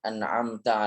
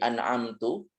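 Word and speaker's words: أَنْعَمْتَ: T-nya ini berharakat fathah. Nah, ini apabila dirubah harakatnya, diubah yang seharusnya fathah kemudian orang salah baca sehingga membacanya menjadi dommah atau menjadi kasrah menjadi an'amtu atau an'amti, maka ini mengubah makna.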